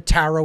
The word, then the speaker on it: tarot: and that is the taro itself okay it's a phonetic equivalent T aro the last T is silent then a ro t